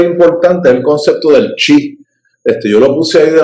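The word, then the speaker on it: qi: En el sistema pinyin, aunque se pronuncia chi, lo ponen con una Q y lo escriben de esa manera.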